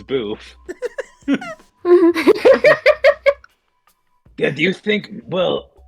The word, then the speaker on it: B33F: It's beef, but it's spelled B33F. It's not even beef. It's boof.